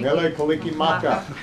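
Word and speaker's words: Mele Kalikimaka: Mele Kaliki Maka.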